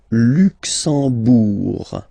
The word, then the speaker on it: Luxembourg: Le Luxembourg, okay, final G not pronounced, and then when you combine this E-M here, you get the sound en. You don't pronounce the M at all, it's this nasal en, okay?